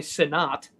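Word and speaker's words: Sinnott: He may pronounce it Senate. I bet he does, but it's definitely Sinat.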